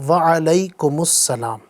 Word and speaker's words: وعلیکم السلام: وعلیکم السلام، وعلیکم السلام۔ بعض لوگ وعلیکم السلام، مالکم السلام، وسلام اس طرح بھی بول رہے ہوتے ہیں، تو صحیح تلفظ ہے وعلیکم السلام۔ ماشاءاللہ۔ رضائے حق کے